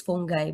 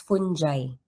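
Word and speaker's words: fungi: So, usually ang correct pronunciation nito is fungai but usually it is um pronounced as funji.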